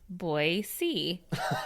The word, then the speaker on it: Boise: Then it goes on to say, Al was born March 1st, 1936 in Boise, and Chris put a note, Boise is pronounced Boise.